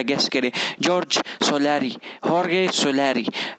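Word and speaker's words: Jorge: हॉर्गे सोलारी। जॉर्ज, I don't know, it's the wrong pronunciation. हॉर्गे सोलारी इज the right pronunciation.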